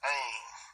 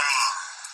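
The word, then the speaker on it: ἦν: And then the next word is that they translate as that was is 2558 EM, but it's pronounced ain. Let me get it. This word. Strong's G 2258. Ain.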